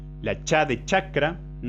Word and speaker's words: chakra: Por ejemplo, la I, la Cha de chakra. Intenten pronunciar la palabra chakra sin pronunciarla. Es decir, cuando decimos cha, sin decirlo, ¿qué pasa? Los bordes de la lengua se posicionan sobre esta zona.